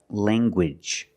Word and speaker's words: language: hard G sound like language language you have the nasal sound Lang and the hard g g language language I have one